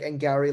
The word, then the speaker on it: Angourie: for siobhan as well like and gary like flowery and gary rhymes with larry shavon no i don't